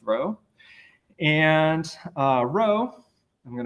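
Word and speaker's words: rho: see what they mean this Greek letter right here is pronounced row uh and this quantity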